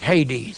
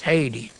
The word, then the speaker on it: Hades: an alpha they put our modern Greek text has a rough breathing we don't have an H in Greek we have a rough breathing sign we pronounce it Hades Hades they took the alpha